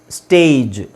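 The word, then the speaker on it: stage: ಮುಂಚೆ ನಾನ ಏನು ಹೇಳಿದೆ ಕೊನೆಯಲ್ಲಿ ಜಿ ಬಂದ್ರೆ ಅದನ್ನ ಗ ಅಂತ ಹೇಳಬೇಕು ಸೋಎಸ್ಟಿಎಜಿ ಸ್ಟ್ಯಾಗ್ ಎಸ್ಟಿಎಜಿಇ ಸ್ಟೇಜ್ ಪಿಎಜಿ ಪ್ಯಾಗ್ ಪಿಎಜಿಇ ಪೇಜ್ ಸೋ ಇದು ಈತರ ಬರೋದಿಲ್ಲ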